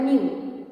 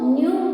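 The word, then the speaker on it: ν: This is the symbol, Greek symbol, that is known as nu. It is pronounced as nu. Okay, so nu, that is frequency, is equal to the reciprocal of the time period.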